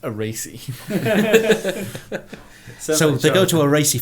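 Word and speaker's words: Arese: Alpha Romeo Factory isn't it it's actually called aasy r a r a r e s e but of course pronounced aasy so they go to aasy factory yeah right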